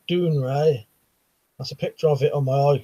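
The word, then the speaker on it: Dounreay: it grown dark said dawn rays pronounced doing ray that's a picture of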